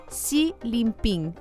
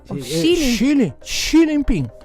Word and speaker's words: Xi Jinping: Ya estamos de vuelta, estamos discutiendo cómo se pronuncian los nombres del presidente de China, Xi Jinping. Xi Jinping. Xi, es como Xuxa, XI.